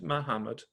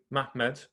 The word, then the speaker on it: Muhammad: In that period, a certain one of them, a man of the sons of Ishmael named Muhammad, or actually I should say it correctly, Mahmed, became prominent.